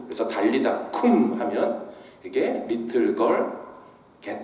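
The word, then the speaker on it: קום: 근데 여러분, 일어나라 라고 하는 이 표현이 히브리 표현으로 어떻게 발음하냐면요, 쿰이라고 합니다. get up이 쿰입니다. 그래서 달리다 쿰 하면 이게 little girl get up 이런 뜻이에요.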